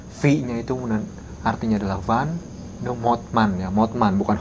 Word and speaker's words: Motman: juga kurang tahu v-nya itu artinya adalah Van motman ya motman bukan Hotman kalau Hotman Hotman Paris ini motman Van motman jadi keluarga PR Van mman gitu